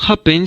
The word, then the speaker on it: happen: la última sílaba y en cambio happen se acentúa en la primera sílaba Entonces cuando la última